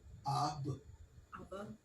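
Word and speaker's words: אב: How do you pronounce the a and the b sound together? Sister Maisha, how would you pronounce that? Come on, say it. Ab. Aba. Aba. Ab. Yeah. Ab.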